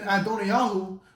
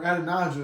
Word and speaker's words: Adonijah: And then Adoniah, or Adonijah as we pronounce it, just reading it out right, the fourth son of David, he attempted to usurp the throne from Solomon, the 10th son.